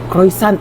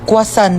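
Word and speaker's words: croissant: Croyant daw. Croisant? Ah quasant po.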